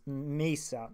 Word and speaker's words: Mesa: math so miso card I don't know how they pronounce it I've heard it pronounced like both ways but I know there's